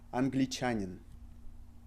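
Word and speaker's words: англичанин: And the second word is Anglichanin. An, g, li, cha, ni, n.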